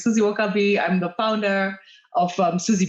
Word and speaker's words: Suzie Wokabi: sure okay so yes you said it right um my name is susie okabe i'm the founder of